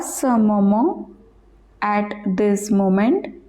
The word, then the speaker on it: moment: À ce moment, at this moment. IEN pronounced as on, T silent.